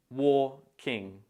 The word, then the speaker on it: walking: some to pronounce sometimes make sure to break it down into two syllables and stress the first syllable the first syllable is pronounced very similar to war so try to imagine the word walking walking on eggshells ever